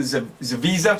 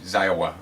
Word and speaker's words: Zawisa: The Visa? Like Visa card? Yes, sir. Visa. That's Yeah. it. It's a lot easier than Ziowa. Yeah, that's nice. I wasn't pronouncing the S. I was using the W.